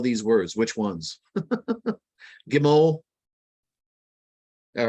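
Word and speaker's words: גימל: Now, if we look at the first Hebrew word there, Gimel, it's actually the same letters that spell the Hebrew word Gimmel. It's just pronounced a slightly different way.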